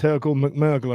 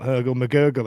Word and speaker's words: Röhl McMurgle: I've just realised that's Röhl McMurgle and not Röhl McGurgle, as Ash has called him every single time he's commented.